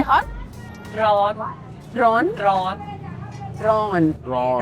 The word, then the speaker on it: ร้อน: ร้อน Drawn?